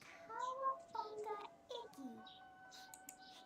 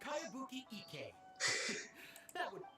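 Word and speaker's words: Kayabuki Ikkei: When the By Kawabunga Iggy. Who's this Cowabunga? It's pronounced Kayabuki Ike.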